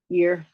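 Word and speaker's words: Yr: noris or Scandinavian speaker it's spelled y r and the Y sometimes sounds like y so I just go year but this is the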